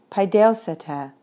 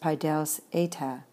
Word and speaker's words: παιδεύσητε: Stem, ending, accent, paideoseta. Excuse me, that would be better pronounced paideoseta. Paideoseta. I was a little too casual with my eta sound there.